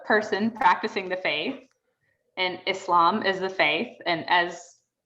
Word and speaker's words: Islam: i want to just call out the pronunciation on both of those islam and muslim because that's how we say those terms and that's how i